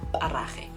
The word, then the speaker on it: Parage: Parage is a Tswana surname and it's pronounced Parage and not Parage or Parage or Parage.